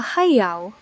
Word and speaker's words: heiau: A heiau, pronounced heiau, is an ancient Hawaiian temple or sacred site used for worship, ceremonies, and sacrifices.